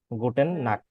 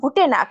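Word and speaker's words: Gute Nacht: কেন আচ্ছা গুটেন Morgan গুটেন টাগ গুটেন আবেন গুটেন নাক গুটেন নাক না গুটে নাক এখানে আমি কালেকশন করে দিছি হ্যাঁ আচ্ছা আচ্ছা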